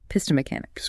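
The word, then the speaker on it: Pistomechanics: Pisto mechanics. Pisto mechanics. Clean natural four syllables.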